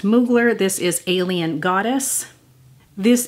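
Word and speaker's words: Mugler: eyelash I have one I believe it's pronounced moogler this is alien goddess this is from Lake and Sky 11 11.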